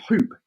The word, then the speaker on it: Huupe: smart hoop technology and the name hoop is spelled h u u p e so again a bit more sort of the edgy style so not hoop h-o-op it's h-u-u-p-e there you go we're